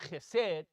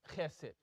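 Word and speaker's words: חסד: So it's not chesed, it's chesed.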